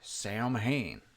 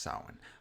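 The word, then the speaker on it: Samhain: who taught Michael about sin or I'm sorry Sam Hayne I know it's pronounced sin uh but it's they pronounce it Sam Hayne in this movie but who taught Michael out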